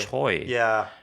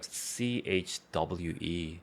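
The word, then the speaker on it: Choi: it in English yeah they call it chy but it's like so completely different from how Korean people pronounce it yeah I don't know why they decided to write it as c h o i mhm I take it back it sounds more like CH hwe or C AE as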